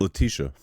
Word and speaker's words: Letitia: Letitia. Oh, Letitia. Yeah. Fuck. You're good. Fuck. Letitia Wright. It's all right. I mispronounced it all the time.